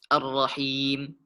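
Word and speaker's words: الرحيم: Dan pada kata Ar-Rahim, di sini kita dapati harokat kasrah bertemu dengan ya sukun. Maka cara membacanya dipanjangkan 2 harokat. Ar-Rahim.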